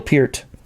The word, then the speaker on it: Peart: You have Alex Lifeson, Neil Peart, and Geddy Lee. And I guess it's pronounced Peart, by the way, and that's how he pronounces it. So a lot of people say Pert, but that's a shampoo, I think.